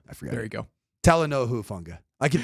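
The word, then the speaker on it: Talanoa Hufanga: I keep going I'm I go taoa and I'm like no it's h long taloa huanga there you go and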